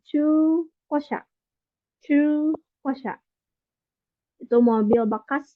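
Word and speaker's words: 中古車: Terus ada chu, ya ini cara baca panjang pakai u, jadi chu kosha.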